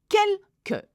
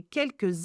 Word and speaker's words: quelques: J'ai regardé quelques. Now, QU in French is not que, it's que, okay?